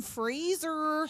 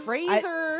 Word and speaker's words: Fraser: as Brendan freezer did I say it right did you Fraser Fraser I didn't say Frasier oh no not this